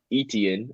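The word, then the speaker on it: Etienne: Trevor Travis Indian that etn is how you pronounce it I always butcher but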